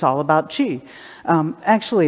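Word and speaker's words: qi: image that goes with the word g or chi as it's spelled so die means the greatest and g means polarization separation two ends of one thing so that's what's going on in the name it's not chi in your body is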